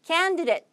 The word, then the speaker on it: candidate: candidate가 아니라 candidate. 늦에 오히려 가까워요.